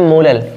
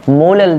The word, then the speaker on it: मोलल: और इसका जो प्रोनाउंसिएशन होता है वो होता है आपका मोलर, और इसका होता है मोलल। क्या होता है, मोलल। ध्यान रखना प्रोनाउंसिएशन सबसे इंपॉर्टेंट है इसमें।